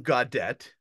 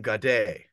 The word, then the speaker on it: Gaudet: And it's not William Gaudet, it's William Gaudet.